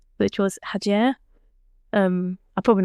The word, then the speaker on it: Hacer: She'll be annoyed at me there, but you need to kind of roll the R a little bit. But it's actually spelled Hacer. So a lot of people will say Hacer, or ask how it's said, and I kind of like that.